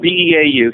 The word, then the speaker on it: Beau: So my name is spelled B-E-A-U. Sometimes after the radio you have to do this. Some people think it's B-O, but it's B-E-A-U.